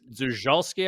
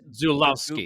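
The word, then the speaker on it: Żuławski: Zulawski, I believe is how you pronounce it. It's Polish. I'm looking at the Zulawski.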